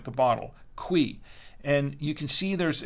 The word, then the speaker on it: Cuy: about this cqui uh I thought it said Ki and it's actually pronounced quei and this is what on again this is what the front of the wine looks like the bottle quei and you can see